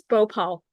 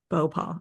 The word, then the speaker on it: Bhopal: It's Bhopal. Bow paw.